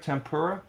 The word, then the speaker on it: tempura: okay hashtag National Temple tempura is did I say it right tempura yeah temper a day uh